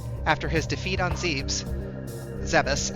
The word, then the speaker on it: Zebes: Zeus actually is the correct pronunciation. I don't know why I'm calling it Zebes.